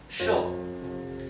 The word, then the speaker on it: yo: And in Argentina and in Uruguay, as I mentioned before, the Y and double L sound are pronounced like the English SH, okay? SH, shh. So this would be pronounced sho in Uruguay and Argentina.